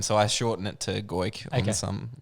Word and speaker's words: Goik: Is that the right pronunciation? Yeah, Goik.